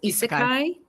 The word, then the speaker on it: isekai: I want to make sure I'm pronouncing this correctly. Is it isekai?